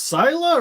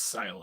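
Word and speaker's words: Scylla: head it's like yeah is it pronounced syla or is it like sky I think it's Sil right it's kind of like it's like if it like uh if it's like it's an eye yeah that went up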